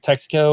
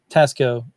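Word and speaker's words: Taxco: I always say it's like Texaco or something. Texaco. Oh, Tasco. Okay. Tasco.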